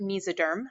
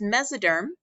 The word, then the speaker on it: mesoderm: then the mesoderm and sometimes uh people might pronounce it mesoderm i i believe both are correct i've heard experts say it both ways this mesoderm is the middle layer